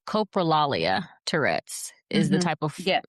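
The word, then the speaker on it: coprolalia: I don't know if it's the correct pronunciation. Copraalia Tourette's is the type of Tourette's that you're referring to.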